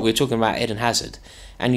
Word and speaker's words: Hazard: We were talking about Eden Hazard, and he decided to drop both the H and the D. I didn't. From the word hazard.